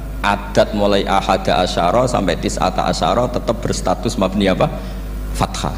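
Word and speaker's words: تسعة عشر: tisata Asaro utawi 19ong tetap bacanya bukan tisatu asarin tapi tisata asyaro jadi kita tahu secara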